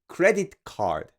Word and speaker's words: credit card: credit card in English credit card the accent is placed on the first word credit credit card but in